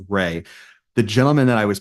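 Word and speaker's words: Reay: it's it's spelled re e a y but pronounced Ray the gentleman that I was paired up with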